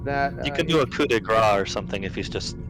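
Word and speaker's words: coup de grâce: We found it with another team that You can do a coup de grace or something if he's just.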